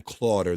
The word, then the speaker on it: Clotter: Clotter, that rhymes with daughter.